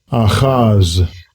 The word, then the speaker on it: Ahaz: So let's go back and check each name and how they're properly pronounced. because I'm terrible with names. Okay, so where is Ahaz? Okay. Strongs H271. Aaz.